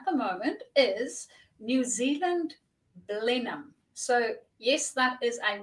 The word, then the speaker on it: Blenheim: as everybody else and decided that it is pronounced Blenheim so that's where I live um and I